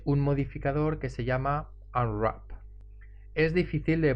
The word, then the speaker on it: Unwrap: modificador que se llama al run que es difícil de pronunciar seguro que lo pronunciaremos de formas diferentes a veces se simplifica y se dice un rap aunque en realidad se pronuncia un wrap este modificador lo podemos